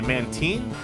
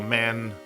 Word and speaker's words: Mantine: I usually want to say Mantine, but Mantine is a combination of the words. Oh, 1 second. But Mantine is actually a combination of the words marine and brine. So Mantine.